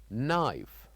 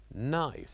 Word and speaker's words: knife: And here we have knife. Knife. So here the K is silent and we pronounce it as knife.